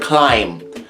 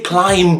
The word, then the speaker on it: climb: Seriously, silent letters. Look at the word climb. Why don't we just say climb?